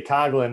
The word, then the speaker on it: Coghlan: pronounce my last name she does it with this really cool kind of like accent on the gh um that you don't hear actually well we say coughlin in the u.s but you have that oh yeah no no no no so it's cool to hear the uh proper pronunciation um and thank you